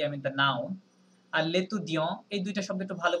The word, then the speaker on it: l'étudiant: নম্বর যে লেতু দিয়ঁ, এটা টিটা সাইলেন্ট থাকছে প্লাস এ এন পর্যন্ত উচ্চারণ হচ্ছে, ঠিক আছে? কি হবে তাহলে? লেতু দিয়ঁ, নট দিয়ন্ত.